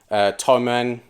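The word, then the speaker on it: Thomann: Best place I'd recommend is music, pro music websites like Gear 4 Music and Toman, that's how you pronounce it.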